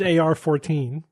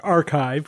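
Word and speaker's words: arXiv: We didn't realize that that X in the middle is really a Kai.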